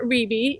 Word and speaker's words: Riebe: Riebe. It rhymes with BB.